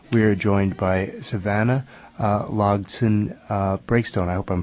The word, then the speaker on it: Logsdon-Breakstone: And on the phone right now, we are joined by Savannah Logson Breakstone. I hope I'm pronouncing your name correctly. I've been skimming over it. It's pronounced exactly how it looks. Okay, fantastic. Logson Breakstone.